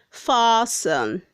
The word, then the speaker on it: fasten: Word 158 says fasten. Say fasten, not fasten. The T is silent.